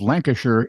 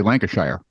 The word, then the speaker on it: Lancashire: flew a small plane above Lancashire England or as we Americans say Lancashire the pilot who had